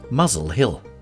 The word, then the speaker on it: Muswell Hill: Mossa or the mosella until the 1950s the town's name was often pronounced muzzle Hill in the 18th century